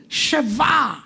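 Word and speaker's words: שבע: Sheva.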